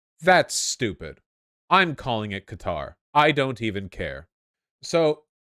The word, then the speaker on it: Qatar: the World Cup is being hosted in it's pronounced cutter it's pronounced cutter that's stupid I'm calling it Qatar I don't even care so for those of